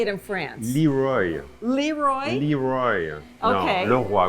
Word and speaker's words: LeRoy: is here every day it's open uh philippe laurie or is it lacroix how do you say it in france leroy leroy leroy okay and you know we're